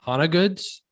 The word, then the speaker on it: Hona Goods: do you pronounce it hana goods yeah it's hana good so my last name is hanaker and so hana goods is the business name so how did that